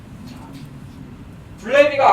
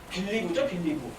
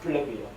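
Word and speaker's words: BLEVE: 블레비가 아까 설명했던 게 다시 나오게 되는데 블레비는 이거 영어로 뭐라고 읽어요? 혹시? 블레비 말고 빌리브죠? 빌리브인데 누가 이렇게 이름 붙였는지 모르겠어요. 근데 이름은 블레비라고 읽어요. 빌리브가 아니라.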